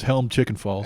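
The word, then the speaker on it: Helmcken Falls: But you pronounce it wrong. It's Helm Chicken Falls.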